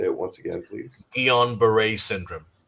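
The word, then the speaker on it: Guillain-Barré: because given your illness, and I can never pronounce it. Can you say it once again, please? Gon Beret syndrome. Gillon Beret syndrome.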